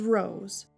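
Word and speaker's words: Rows: To be accurate, it has a homophone, which is a word that's pronounced the same as another word, but spelled differently. My homophone name is Rose, R-O-W-S.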